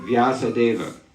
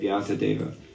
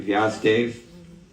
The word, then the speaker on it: Vyasadeva: We have in Sanskrit the word Vyasadeva, right? Maybe in Telugu you say the same, right? Vyasadeva. Hindi mein usko bolte hain Vyasdev.